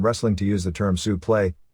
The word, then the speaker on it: suplex: to use the term suple like still used in the amateurs which is the correct pronunciation of the original French word spelled suplex a word which has